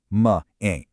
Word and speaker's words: mãe: This is where Portuguese pronunciation gets incredibly cool. Look really closely at that phonetic translation. "Ma ain".